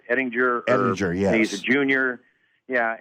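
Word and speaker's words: Ehlinger: I want to make sure I pronounce it right. Ettinger. Ettinger, yes.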